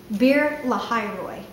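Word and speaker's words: Beer-lahai-roi: It's called Bir Lahairoi. Bir Lahairoi. That's how you pronounce that.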